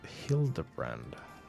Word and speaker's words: Hildibrand: It's pronounced Hilda brand.